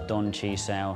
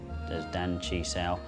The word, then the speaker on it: Don Chi Sao: So just to recap, the single-handed Chi Sao, also known as Don Chi Sao, sometimes pronounced differently as Dan Chi Sao, is not about strength,